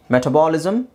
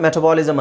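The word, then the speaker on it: metabolism: Okay, ಮೆಟಬಾಲಿಸಮ್. ನೋ, ನೀವು ತುಂಬ ಜನ ಮೆಟಬಾಲಿಸಮ್ ಅಂತ ಹೇಳಿರ್ತೀರಾ, right? So this is ಮೆಟಾಬಲಿಸಮ್, ಮೆಟಾಬಲಿಸಮ್.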